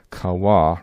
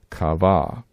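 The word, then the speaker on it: קָוָה: So that is why we pronounce this verb kawa rather than kava.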